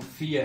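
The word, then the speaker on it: vier: Confuse नहीं होना कि ये वी है और साउंड फियर है। हमने अल्फाबेट्स में पढ़ा है, इसको फाउ प्रोनाउंस करते हैं, तो इट इज फियर।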